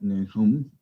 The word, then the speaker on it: Nahum: Yeah, we don't really know much about Nahum. Nahum depends on how you say it. In Hebrew would be Nahum.